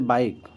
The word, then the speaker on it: bike: होता है, ठीक है, ई साइलेंट होता है जब लास्ट में लगा होता है तो ई को हम साइलेंट कर देते हैं। जैसे बाइक, ठीक है, BIKE, बाइक, science, sign, type, name, यहाँ पर ई का कोई प्रोनाउंसिएशन नहीं दिया हुआ।